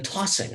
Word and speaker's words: tossing: And then tossing, I think by far, the majority of English speakers would stress the first syllable and not the second syllable.